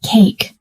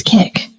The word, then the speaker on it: cake: Anna wants to say yes, I like cake, but she pronounces cake as kick, so she says, yes, I like kick.